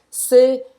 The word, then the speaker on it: c'est: Presta atenção nos do C, porque muita gente erra e fala só é la force. E tá errado isso, c'est la force.